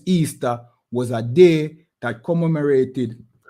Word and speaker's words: Ishtar: a festival called easter ishtar which is pronounced easter was a day that